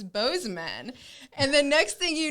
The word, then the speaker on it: Bozeman: i'm just like me i think boozy man sounds cooler i don't know if that's really how you say it and then cole's like no i'm from there it's it's bozeman and the next thing